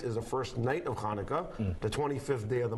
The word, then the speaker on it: Hanukkah: But phonetically in the English vernacular, Hanukkah is just like Chaim and Chabad. We take the Ch sound from the Hebrew Chet, and we make it into a CH.